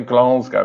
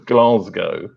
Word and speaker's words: Glasgow: Most words I pronounce phonetically, but I say Glasgow with like an R in it. There isn't an R actually in it. It's Glasgow.